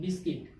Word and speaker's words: biscuit: फाई, क्या बोलते हैं, बिस्किट। ठीक है, तो BISCUIT, यू क्या हो गया, साइलेंट हो गया। जब यू साइलेंट हो गया बना BISCIT, यानी बिस्किट।